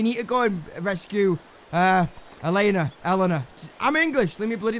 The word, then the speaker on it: Elena: So it is Elena, not Elena. Elena must be a different name altogether.